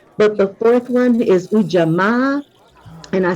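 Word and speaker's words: Ujamaa: a or a yeah for most languages the a sound pretty uniformly says Ah okay so U not AMA and I'm saying ah because in kahili well the word UJ is spelled you uh spelled uh u j a m a a so in kiswahili each vowel gets its own pulse so with the two A's being at the end of the word then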